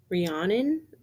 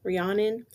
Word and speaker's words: Rhiannon: friends, but her like main friend, which is Rhiannon, I believe how you pronounce her name, Rhiannon.